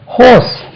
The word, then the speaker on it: horse: அது குதிரை பாருங்க, ஹோஸ். இது ஹார்ஸ் இல்லைங்க, ஹோஸ்.